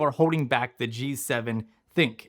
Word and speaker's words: ThinQ: Basically, these are 7 things that I feel are holding back the G7 Think. It's pronounced think, not ThinQ.